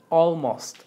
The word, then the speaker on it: almost: La L no es muy fuerte, no es almost, no es almost. Almost. Es como una L enmudecida. Almost. Almost. Si la pronuncias, pero casi no suena.